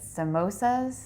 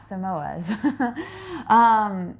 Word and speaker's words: samosas: and they had how do you say it samosas samosas most is not Samoas and of course we're just like sure why